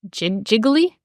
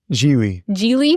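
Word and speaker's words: Gigli: He was in a movie called, I forget how it's pronounced now, but Jiggly? Geely. Yeah.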